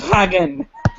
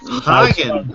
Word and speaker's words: Hagen: that and it sprouts hagen hagen like haagen-dazs like a man does